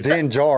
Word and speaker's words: Din Djarin: So first of all, Chris called Kyle out for saying, or Kyle, as Django would say, the D is silent. It's just Din Djarin.